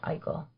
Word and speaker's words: Eichel: Eichel is how you say it? Jack Eichel, yes. It's a word with consonants that don't look like they should be there. Yes, Jack Eichel. Eichel.